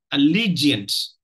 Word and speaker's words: allegiance: So allegiance. Allegiance. So that is not how it is, you know, it's pronounced. It's pronounced as a, you know, as a three-syllable word.